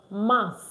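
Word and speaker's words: mars: Mass. Mass. Mass. So we normally don't pronounce the S at the end of our words, but this is an exception.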